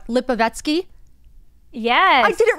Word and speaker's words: Lipovetsky: name I don't want to say it wrong lipovetsky yes I did it right thank you very